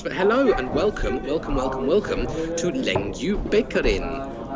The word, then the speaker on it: Lengjubikarinn: Sorry that you got to put up with this, but hello and welcome to Lengjubikarinn. It's apparently the Icelandic way of pronouncing it.